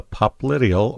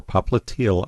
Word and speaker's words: popliteal: And it's then going to become the popliteal or popliteal artery, however you'd like to pronounce it.